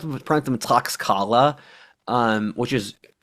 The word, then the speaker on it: Tlaxcala: And they formed alliances of these people who hated the Aztecs, like the Tlaxcala, which is, I used to pronounce them Tlaxcala, which is unpronounceable.